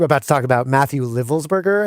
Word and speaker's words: Livelsberger: Then about, as we are about to talk about, Matthew Livelsberger, I think is how it's pronounced, who's the Green Beret,